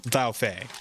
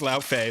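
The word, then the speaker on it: Laufey: just say, you know, La Feay or or Yeah, it's her because her actual name is La Feay, but I I believe it's actually pronounced like that. It's not Le, it's actually La.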